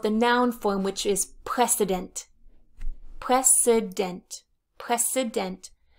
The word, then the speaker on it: precedent: noun form which is precedent precedent precedent this is not pres president this is press s precedent precedent is an earlier situation